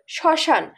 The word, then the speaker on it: শ্মশান: শব্দের আদিতে ম ফলা থাকলে সেটা উচ্চারণ হয় না।